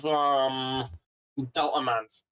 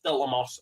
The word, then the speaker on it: Delta Moss: I'm currently on board with Delta Mans. I think that's his name. No, it's Delta Moss.